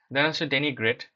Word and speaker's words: denigrate: এটা জিজ্ঞেস করা হয়েছে ডেনি গ্রেট ডেনি হচ্ছে যে ডেনাগ্রেট উচ্চারণ হবে ভার্ব একটা যার অর্থ